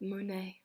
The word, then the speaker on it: Monet: Monet M o n L mu net we pronounce it Monet Monet's paintings were created to make you feel